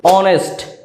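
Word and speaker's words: honest: অনেস্ট সৎ অনেস্টি সততা সবগুলো ওয়ার্ডেই এইচ আছে কিন্তু একটা ওয়ার্ডেরও এইচ এর উচ্চারণ হয়নি এর কারণ হচ্ছে যখন এইচ এর পরে আমরা এরকম ভাওয়েল দেখব এইচ ও হচ্ছে ভাওয়েল প্রত্যেকটাতেই ও আছে তো ভাওয়েল থাকার কারণে এখানে এইচ এর উচ্চারণটা হয়নি তবে সব ক্ষেত্রে একই না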